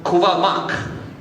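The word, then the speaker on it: Kuvah'magh: And that received a Klingon definition or Klingon pronunciation in 2020, so 19 years later, and that was Kuvamak.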